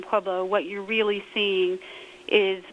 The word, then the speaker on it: Pueblo: there to answer the question we just say PUO when the Still Mill uh was really strong